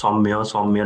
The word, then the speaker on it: Soumya: are a lot of people who cannot even pronounce my name, even if I tell them it's Soumya like 10 times.